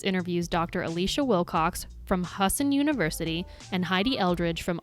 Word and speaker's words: Husson: alici Wilcox a PhD and how do you pronounce the university husten husten yeah h u SS o n in bang